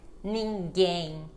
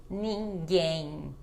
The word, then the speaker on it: ninguém: então ela não muda mas quando ela tá no final de palavra não é para fechar a boca ela fica com som de n como também também ninguém ninguém olha só então eu não fecho a boca e ela fica com este som de n e não de m mais mas somente nesses